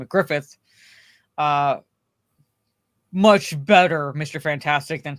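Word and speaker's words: Gruffudd: But it's pronounced Grufford or something, but or rather it's spelled Grufford, but it's pronounced Griffith.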